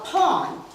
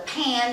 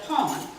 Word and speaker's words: pan: what we call a pawn. You would call it a pan, they call it, and they still spell it P-A-N, but they call it a pawn.